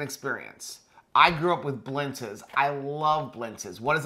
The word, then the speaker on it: blintz: have an a on the end of that blindsa you say it like that that's how you pronounce it but yeah it's actually blintz it well it's an e at the end